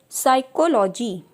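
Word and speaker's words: psyche: पी में देखते हैं साइकोलॉजी, साइकेट्रिस्ट, साइका। इन सभी वर्ड्स में आप देख रहे हैं पी हमारा साइलेंट है, केवल एस के साउंड से हम इनको प्रोनाउंसिएट कर रहे हैं।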